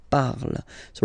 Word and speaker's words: parles: So you've got the two first forms, you pronounce them the same way. You write them differently, of course, because you've got here, and then you've got and s, okay? But then phonetically, they are the same.